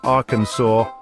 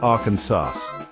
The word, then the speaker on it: Arkansas: mispronouncing the state's name the correct way to say it is Arkansas not Aransas so if you're ever